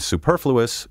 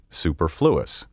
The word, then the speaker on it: superfluous: And superfluous is often mispronounced superfluous.